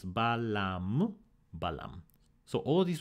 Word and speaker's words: balam: So this is not pronounced babalam, this is pronounced balam.